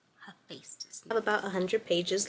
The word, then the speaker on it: Hephaestus: So Hephaestus. Hephaestus.